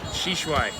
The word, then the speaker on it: Shishui: Mine is Shishui. Shishui. Shishui. Which, if I say it wrong, apparently it translates to crickets. Right, right. Crickets. Cricket, like the insect, crickets. So I gotta say Shishui.